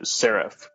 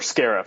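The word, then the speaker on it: Scarif: I believe that attacked uh siif uh or Scarff sorry I keep mispronouncing it Scarff the planet that holds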